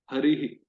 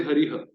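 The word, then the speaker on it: हरिः: Like in Hari, the E Rama is echoed in Vishnu Sarga, harihi. Hmm. In Vishnu, it is Vishnu. In Krishna, it is Krishna. So the respective Sarveshwara before the Vishnu Sarga is, so the sound of that particular Sarveshwara is echoed in the Vishnu Sarga. We can't say Hariha or Harihu. No, it will be Harihi naturally.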